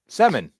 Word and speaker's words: Semin: Semin.